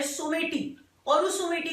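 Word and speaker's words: Someity: तो मैस्केट जो है पैरालंपिक्स का वो है सोमेटी, that's the pronunciation of the word सोमाइटी।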